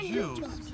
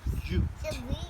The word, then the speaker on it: jute: Not juice, but jute. Jute. J-U-T. Jute.